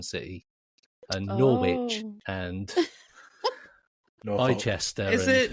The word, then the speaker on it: Norfolk: It's in Norfolk. Norfolk. Norfolk. Hey, Hey, we pronounce our L's.